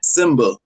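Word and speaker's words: Symba: It's by Simba. Um, some of y'all don't know who Simba is. It's spelled S Y MBA.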